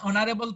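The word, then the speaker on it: honourable: একইভাবে অ্যান অনারেবল person will visit our college tomorrow, অনারেবল এর এইচটা silent, এরপরে আছে ও, বাওয়েল, সেজন্য এখানে এন।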